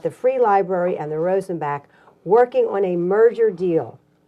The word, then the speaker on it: Rosenbach: Rosen back Museum and I just found out my whole life I've been saying it wrong Arthur oh I've been saying Rosen Bach and everybody I know says Rosen Bach so thank you for correcting me Rosen Bach that's the way that did you ever meet any